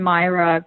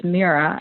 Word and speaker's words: Mira: Um actually, it's it's written Myra for me, but it's Meera is the pronunciation.